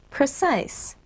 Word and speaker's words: precise: Precise. Remember, the silent E at the end of the word makes the I long.